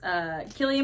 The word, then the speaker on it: Cillian: The Holdovers, Cillian Murphy, Oppenheimer, and Jeffrey Wright, American Fiction. Now, let me ask you something. Did I say that wrong? What? It's Cillian Murphy, right?